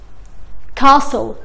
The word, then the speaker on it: castle: often listen castle. ما نطقنا صوت التي.